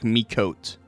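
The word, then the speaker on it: Miqo'te: It's pronounced like Mikot. There's no A at the end? I think it's like Miko Te. Miko Te. Or Miko T. Migo T. It's silent. Okay. Mikot. We're going with it.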